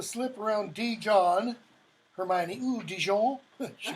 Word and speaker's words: Dijon: Hermione, ooh, Dijon. She pronounces it correctly.